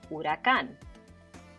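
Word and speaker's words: huracán: hammock what's the difference the h at the beginning in the spanish the h is silent we never hear it in english you hear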